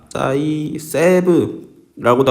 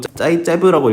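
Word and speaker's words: Zaitsev: 한글로는 이제 짜이세브라고도 하고 짜이제브라고 읽기도 하고. 아예 한글 안 적을 오글거리지. 오글거리지 않아? 이런 거 한글로 적는 게. 짜이제브 규칙. 나는 그냥 짜이제브라고 해.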